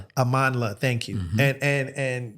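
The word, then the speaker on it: Amandla: him and and and I don't want to mispronounce. Amanla, thank you.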